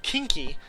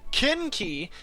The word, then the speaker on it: Kinki: I have to remember not to actually say it like kinky, because I don't want things to get kinky around here. I want things to get Kinki, because Kinki is a persona or something from mythology.